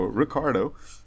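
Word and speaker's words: Ricciardo: uh Ricardo I know I find it silly not to pronounce the I but that's how the guy says it so Ricardo and what is weird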